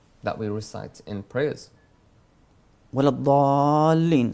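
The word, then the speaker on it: ولا الضالين: Wala dhalleen, so 4 times mad, and dhalleen basically, not dhalleen. So you keep the tongue inside your mouth.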